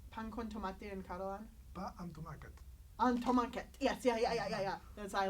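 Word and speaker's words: pa amb tomàquet: Pa and tomacat.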